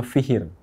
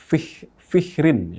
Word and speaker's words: Fihr: Ya, kita menyebutnya Fihr. Kalau di bahasa Arab Fihrin ya, atau Fihrun. Kita seringkali membacanya Fihr.